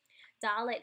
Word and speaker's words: Dalet: And it's pronounced like D, like dog.